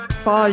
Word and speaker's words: Fajr: Faja. So like, Luke, I am your Faja.